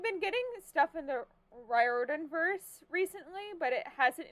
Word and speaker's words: Riordan: uh Rick Riordan sorry still get his name wrong after finding out that it's Riordan instead of Riordan Percy Jackson and the